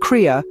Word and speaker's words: Cria: Did you know a baby llama, charmingly coined as a Cria, pronounced Cria, is usually a singular delight for mama llamas, as twins are a delightful rarity?